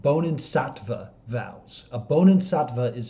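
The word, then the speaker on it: Bodhisattva: she is taken and i want to make sure i say this word right i just double checked how to say it bonin shatva nope double checked how to say it bonin satva vows a bonan satva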